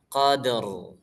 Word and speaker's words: Qadr: Jadi jangan Lailatul Qadr ya. Qadr. Nah, tebal tipis, belajar tebal tipis huruf ro nanti ya.